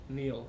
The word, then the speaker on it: Neal: These are Can I nice spell it wrong, too? sweatshirts Nate, too. well, how do I say your last name? Neil, N-E-A-L.